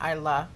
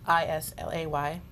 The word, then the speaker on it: Islay: You think about Islay, which Islay. Islay. Well, that's how you Like pronounce it. Lefroy Interesting. earlier. Like we in were talking Jurassic about. Park. It's phonetically, I guess you would say Islay, but Islay, it's right, but but that's another